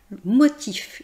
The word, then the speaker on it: motif: que dans le mot motif, vous voyez qu'on prononce le F, le son F, la consonne finale F. Même si c'est une consonne, dans ce cadre, on va prononcer motif.